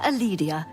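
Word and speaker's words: Calidia: I am Aledia, your hostess. Oh, you don't pronounce the C in your name?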